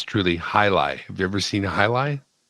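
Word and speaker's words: jai alai: looks like soccer gear it's spelled j j a i and then alay a l a i j l a but it's high lie come kind of like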